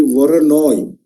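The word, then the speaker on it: Voronoi: This is called actually Waronoi. V O R O N I. But when you put it in plural, you put like polygons. Waron noise. But S should not be there. We call it Waronoi diagram.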